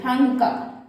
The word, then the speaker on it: Thangka: That the spelling is THANANGKA, Thangka.